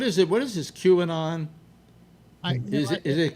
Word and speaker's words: QAnon: Is that how it's Yeah, pronounced? QAnon.